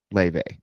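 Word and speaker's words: Laufey: Let's go see this artist. Okay. The artist is named Le. Um, it's spelled L A U F E Y.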